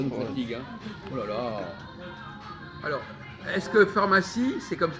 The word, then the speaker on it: pharmacie: dégâts alors est-ce que pharmacie c'est comme ça comment il faut prononcer le ph de pharmacie enfants ça n'incite dh ça fait fin f ça fait f